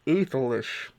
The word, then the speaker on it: Æthelish: right pronunciation but yeah according to my sources it's pronounced ethyl-ish that's dumb I call